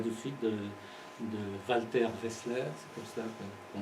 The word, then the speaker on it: Wessler: vous en parlais tout de suite, de Walter Wessler, c'est comme ça qu'on prononce.